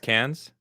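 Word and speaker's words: Cannes: yeah before yeah have you ever heard it's pronounced cans Film Festival there you go this one from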